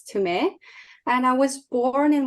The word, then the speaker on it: Tumee: Usually people pronounce it Tumee, but it's Tumee.